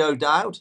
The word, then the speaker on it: O'Dowd: I mean, you're my favourite, obviously, but my next favourite is Maxi O'Dowd. Is that the right pronunciation?